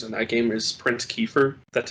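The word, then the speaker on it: Kiefer: my favorite characters in that game is prince keefer that's how you pronounce it i like him yeah yeah character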